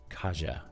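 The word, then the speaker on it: Kassia: is kasia saint claire kasia is spelled k-a-s-s-i-a kaja penguin press fantastic book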